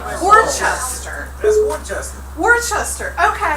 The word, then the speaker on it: Worcester: WHOSTER. That would be a way that would be phonetically accurate.